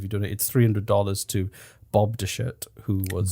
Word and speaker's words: Dechert: He donated $300 to Bob DeShirt, who was... Bob DeShit. Bob DeShirt. DeChert. D-E-C-H-E-R-T. DeShirt. Deschette. DeShirt. Except there's an R there.